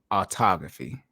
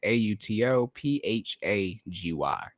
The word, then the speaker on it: autophagy: just dive in just dive in what is autography and then what are the pros and cons